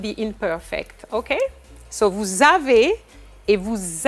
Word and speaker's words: avez: Vous avez.